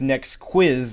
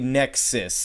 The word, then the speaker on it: Nexuiz: looking at right now Nexus no is not pronounced NEX quiz like I thought that it was but uh I had it phonetically spelled out for me yesterday and it's actually Nexis it's I don't know the spelling doesn't really